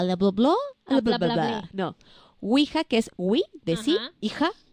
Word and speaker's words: Ouija: y agua a la dobló la verdad no ouija que es we decía hija siguen alemán mujer esa es como se escribe correctamente ok en españa la empezaron a